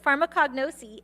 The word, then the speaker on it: pharmacognosy: actually don't know how to say this word, pharmacognosy? Yeah. Okay, pharmacognosy and biomolecular science.